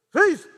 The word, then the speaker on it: faith: 얘기하는데, 그래서 나중에 목사님이 그거를 TH 발음을 잘 못하시는구나. 그래서 그러다 은혜 받았대. 믿음, faith.